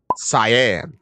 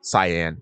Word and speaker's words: Scien: This is also very interesting to me because if you pronounce it Cyan or Cyan, it sounds like the color cyan, which is C-Y-A-N.